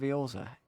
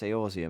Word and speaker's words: Eorzea: gods and champion of Eorza. It is truly an honor. You pronounce it weird. It's Eorzea, mate.